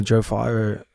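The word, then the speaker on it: Joe Pyfer: And I know Joe Fiver, that's how you say his name, right?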